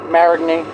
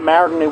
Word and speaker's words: Marigny: Marigny.